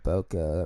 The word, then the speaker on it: bokeh: God bokeh rhymes with mocha Li moo yo Mo